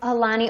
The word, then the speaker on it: Aulani: How do you say the Hawaiian name of it? Aulani, Oahu. Oh, yes. Aulani. See, I have a hard time. I look at all those vowels and I'm like, I don't know where the U goes.